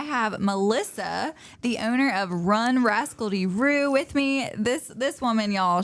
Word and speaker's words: Run Rascaldyroo: Hey guys, we are back with another podcast episode, and I have Melissa, the owner of Run Rascaldyroo, with me.